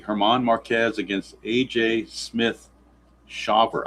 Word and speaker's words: Shawver: I guess it's pronounced Shawver, not Shaver, because without the W, you would think it would be Shaver, but with that W there, I'm thinking it's Shawver. I'm assuming that's how you pronounce that name.